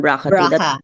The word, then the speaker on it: BRCA: gene yes and Doctor when you say brca 1 brca 2 sometimes people uh shortcut it easier to pronounce braa one braaa yes braa one and